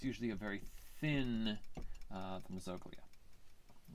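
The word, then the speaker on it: mesoglea: a very thin uh mesoglia people say mesoglia is another pronunciation of it or mezoglia so but it's this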